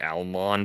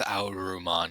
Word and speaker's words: Alman: Also hate that it's like it's so obviously Alman, but they like the English pronunciation is they went with Auman.